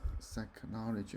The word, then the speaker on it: psychology: psychology, Okay, the P is silent.